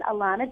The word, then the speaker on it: Alanna: hard and I'm really impressed that you can pronounce it correctly because not many people can so my name is Alana so at Ala double na and